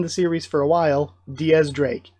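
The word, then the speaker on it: X Drake: been around in the series for a while Diaz Drake it's it's always been Diaz Drake the whole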